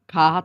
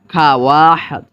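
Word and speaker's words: خواهد: উর্দুর ক্ষেত্রে নিয়ম হলো ওয়াওর উচ্চারণ হবে না, বরং শুধু আলিফের উচ্চারণ হবে।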